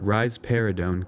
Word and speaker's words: risperidone: notorious for this is risperidone you can remember that rise peridone gives rise to a pair of breasts by pronouncing it rise peridone finally we get to